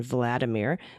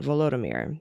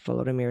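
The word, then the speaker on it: Volodymyr: doubt prefer if you did not pronounce his name in its Russian version Vladimir but the Ukrainian version vomir as the long O's like both vomir zalinski that's it no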